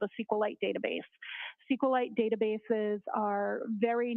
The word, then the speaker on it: SQLite: how is that spell it is capital SQL lowercase i t and sqlite uh is also commonly pronounced as esite so both pronunciations are acceptable now once you receive